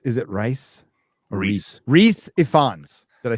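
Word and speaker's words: Rhys: Rice, is it Rice? Or Reese.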